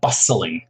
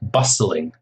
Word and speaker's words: bustling: holiday so we've got bustling the t is silent bustling deserted remember the Ed